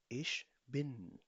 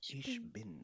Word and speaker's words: ich bin: बिन, pronounce in me, इश बिन, ich bin इश बिन।